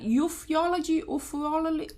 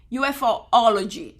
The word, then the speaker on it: ufology: ET obviously e oology how do you say that euphology oh my God I don't even know how to say it ufology okay I hope you get